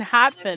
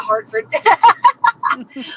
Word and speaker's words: Hartford: You mean Hartford? Just about there. Nah, Hartford. My mother taught me to pronounce my R's.